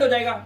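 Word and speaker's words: hedge: अब डी देखिए कब-कब साइलेंट है। ध्यान से देखेंगे आप सभी लोग। ठीक है? देखो कहता है जी से पहले अगर आ गया डी बच्चों क्या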